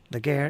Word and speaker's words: Laguerre: Laguerre is Gary without the Y.